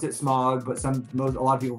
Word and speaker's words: Smaug: Smaug is the dragon from The Hobbit. Yes, April. So that's it's spelled. I'm gonna be that guy, and it's really annoying. It's spelled Smaug.